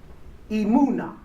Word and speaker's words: emunah: In the Hebrew, the word for stability is emunah. Emunah is spelled E-M-U-W-N-A-H.